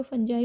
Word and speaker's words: fungi: आपने नोट किया होगा, मैं कभी इसको फंगी बोल रही हूँ, कभी फंजाई बोल रही हूँ। बेटा दोनों ही प्रोनाउंसिएशन क्या है, एकदम करेक्ट है।